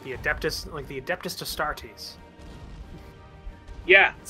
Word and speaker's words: Adeptus Astartes: Yeah, yeah, like the Adeptus Astartes. Yeah, That's how it's actually pronounced.